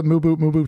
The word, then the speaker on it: Mubu: You prefer Mubu to the silent B correct pronunciation.